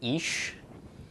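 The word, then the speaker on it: אִישׁ: Okay, aleph makes no sound. Chirik followed by yod makes long E, and then the sheen is sh, so ish. Ish is the pronunciation here.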